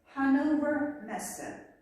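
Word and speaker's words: Hannover Messe: For example, here the pronunciation is Hanover Messe, Ганноверская ярмарка.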